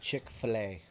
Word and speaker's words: Chick-fil-A: It's pronounced Chick-fil-A.